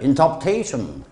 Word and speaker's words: interpretation: 물론 그렇게 interpretation 또박또박 읽어도 되겠는데 원어민들은요 프 다음에 알 발음은 후다닥 없애버리죠. interpretation 교수 professor 참 답답한 발음이에요.